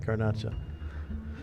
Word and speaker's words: garnacha: garnacha uh yeah granacha french french call it garna uh garnach but it's uh all right grenache but it's uh in spanish it's uh garnacha um it's uh it's like